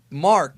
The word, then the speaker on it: Mark: Satan's name is actually maku which is a pun on Akuma aka devil mark is how you pronounce his name in the West his last name of